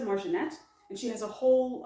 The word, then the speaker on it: Marginet: the video I think I pronounced her name incorrectly it's Melissa Marinette and she has a